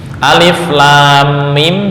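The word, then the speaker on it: الٓمٓ: Nah, caranya mim pada alif lam mim ini diberi harokat fathah bukan kasrah untuk menjaga keagungan dan tafkhim atau tebal pada lafal Allah. Ya. Artinya ketika dipraktekkan alif lam mim, cara membacanya alif lam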